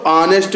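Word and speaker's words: honest: जैसे मैन यहाँ नाउन है, तो यहाँ जो उच्चारण करेंगे तो ऑनेस्ट करेंगे, इसलिए आ रहा है तो एन लगेगा।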